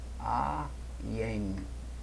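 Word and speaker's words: עין: chamado de ain né pronuncia-se aen né é a forma de pronunciar aqui Aren e assim como alep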